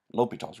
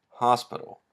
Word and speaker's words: L'Hôpital: at the entire lecture l'hopital's rule it's not pronounced hospital you will sound silly if you call it the hospital rule almost as silly as